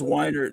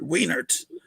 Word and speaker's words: Weinert: I always make that correction because my last name is Weinert, so people always pronounce it Wienert. And it's like, no, Wiener is I-E and Weinert is E-I.